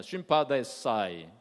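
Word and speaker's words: συμπαθῆσαι: 체휼이라고 하는 단어는 헬라 말로 쉼파데사이라고 하는 단어를 썼어요. 한번 따라서 해보시기 바랍니다. 쉼파데사이. 조금 힘들죠, 발음하기가.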